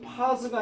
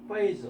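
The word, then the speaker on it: phase: 그 다음에 이거 파스가 아니라 페이지입니다. 발음이 아시겠죠? 페이즈 어떤 단계입니다.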